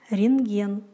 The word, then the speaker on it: рентген: Н-т-г произносится как НГ, например, рентген.